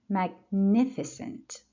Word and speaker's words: Magnificent: Magnificent. Again, second syllable.